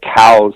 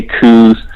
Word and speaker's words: Coues: pronunciation you are correct it was named after a guy named Elliot cows who actually designated these deer and classified these deer Elliot cows most of all my buddies in Arizona say coos I do know a handful of people that say cows either one is fine I don't really get